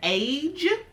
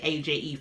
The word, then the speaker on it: Aje: Because with this age, I just found out how to pronounce this brand, by the way. I have been saying AJE for years, but I think it's Age.